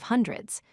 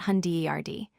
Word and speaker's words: hundred: Now let's focus on the correct pronunciation of hundreds. When saying hundred numbers, remember to stress the first syllable. Say hundred, not hunderd.